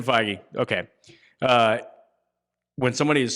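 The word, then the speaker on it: Feige: would say I like how do you pronounce it it was like fej and I was like that doesn't sound right but okay yeah Kevin figy okay uh when somebody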